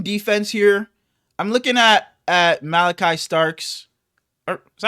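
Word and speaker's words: Malaki Starks: I'm looking at Malachi Starks. Or, is that how you say that? Is that how you pronounce it? It's spelled a little different. That's how you say it. Malachi Starks.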